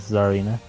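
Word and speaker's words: Tsareena: No idea if the T is silent or not. No, it is Zarina. Sarina? Zar. Like the Zarina?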